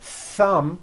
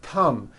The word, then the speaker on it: thumb: So, instead of saying a word like thumb, my thumb, which this is and notice how my tongue is coming out, my thumb, you've been saying tum, my tum or my sum and your tongue is not coming out. That is not correct.